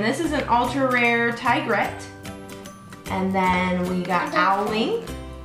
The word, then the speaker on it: Tigrette: It's tigrette.